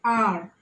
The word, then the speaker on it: hour: Words like an hour, an honest girl, an honorable man. So you don't pronounce it as hour. The H is silent.